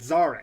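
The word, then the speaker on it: Szarekh: Um uh I think it's Saraka or Surk I think is what it is. Zar. Zar. That's it. Zark.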